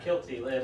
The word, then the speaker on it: Kilty: kilty, like quilty.